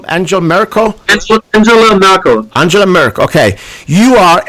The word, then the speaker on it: Angela Merkel: Angela Merkel.